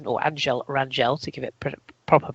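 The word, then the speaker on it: Ángel Rangel: winner from of all people angle r or Angel Rangel to give it proper pronunciation anyone that called that on the betting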